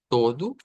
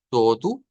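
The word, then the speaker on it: todo: así vendría siendo luego vamos a decir todu todu con esa u al final y aquí diríamos akeli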